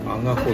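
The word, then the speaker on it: 赤穂: ちなみに読み方のアガホだよ。あ、アガホって読むのこれ。あ、そう。アガホ、赤穂と書いてアガホか。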